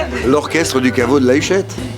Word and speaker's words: La Huchette: with the Caveau de la Huchette Orchestre. How do you say it? L'orchestre du Caveau de la Huchette. It's a mouthful. It's hard to say La Huchette for an anglophone.